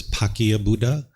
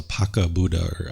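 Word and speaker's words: Paccekabuddha: way that I I I think it's pronounced as pakia Buddha and what this is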